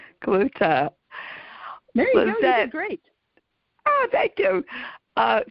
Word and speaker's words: Cloete: o e te and my husband always says I'll give you a clue to so that's how you pronounce it Kut great oh thank you